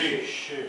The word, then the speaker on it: 律师: 律师。